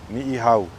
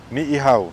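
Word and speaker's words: Niʻihau: going to start with is an island called Niha okay ni that's how you say that word it's often mispronounced as ni so let's break it down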